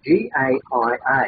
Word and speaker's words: Gaia: I don't know how to pronounce this name, G-A-I-A.